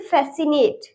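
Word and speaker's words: fascinate: अब next example है हमारा फैसिनेट, इसमें भी एस जो है उसके बाद सी आ रहा है तो इसमें भी सी साइलेंट रहेगा तो हम पढ़ेंगे इसे फैसिनेट, फैसिनेट।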